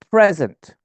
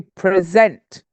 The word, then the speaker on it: present: form of the first it's a noun and the stress is on the first syllable present the second meaning is a verb and it's to present the stresses on the second syllable okay desert and dessert